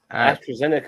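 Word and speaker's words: AstraZeneca: it went past me Astro zenica that's how you say it okay yeah how did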